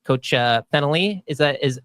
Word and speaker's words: Fennelly: You've been called out, Coach Fennelly. That's how we pronounce his name? Okay, perfect. Yep.